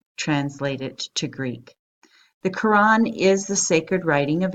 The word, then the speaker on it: Quran: n Qur aan Qur ' aan the spelling Qur ' a n is actually the most correct spelling of this